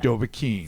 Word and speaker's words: Dovahkiin: You might have to help me with this because I think I mispronounced it. It's from a video game. Dovahkiin? Dovahkiin from Skyrim, dude.